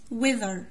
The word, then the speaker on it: weather: Weather طقس. التي والإتش هنا بيتنطقوا زال.